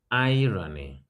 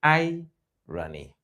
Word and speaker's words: irony: somebody dropped um irony iron where is the stress on irony of course the first syllable I run the first